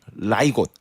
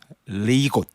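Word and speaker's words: leg godt: 이 정도 되면 많이 아실 것 같은데 이 덴마크 현지 발음으로 이게 어원이 된 이름이 있는데요. 네. 한번 제가 발음을 해볼게요. 네. 라이곳, 리곳 뭐 이런 정도의 발음되는 거가 이 회사 이름의 어원입니다.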